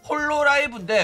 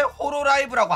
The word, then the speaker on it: 홀로라이브: 막 맨날 나오는 이야기야 홀로 라이브인데 왜 호로 라이브라고 하냐 막 이러는 거야 본토 발음 본토 발음이 아아 일본 애들은 받침을 발음을 못해요 너네들 뭐냐 유니 방송 보면서 왜 그러냐 나는 일본어 전공자 아 나 일부러 잘하니까 본토 발음으로 하겠다는데 뭐가 문제야 자 그러면 이제 본론